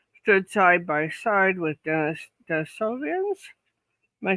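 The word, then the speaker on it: Denisovans: Well, and we human beings apparently stood side by side with Denisovians.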